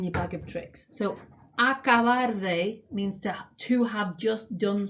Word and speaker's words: acabar de: Okay, acabar de. Get your mouth around that pronunciation. Say it a few times out loud. Acabar de, acabar de, acabar de.